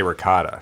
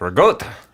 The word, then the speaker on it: ricotta: A lot of people think that the Jersey, New York way is the correct way. In fact, Hers is the Sicilian way of saying it. the ricotta is how you would say it. There's no G's. Well, It's not two syllables.